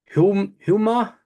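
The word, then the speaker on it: Houma: I'll try and pronounce it. If I mess it up, I do apologize. That is Hummer.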